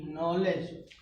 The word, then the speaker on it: knee: तो बच्चों देखिए, कह रहा है कि यदि यन से पहले के आया हो तो के वहाँ साइलेंट रहता है। जैसे आपको बताए, देखिए यन से पहले यहाँ के है तो इसको हम, के छिपा होता है इसलिए इसको पढ़ते हैं नी।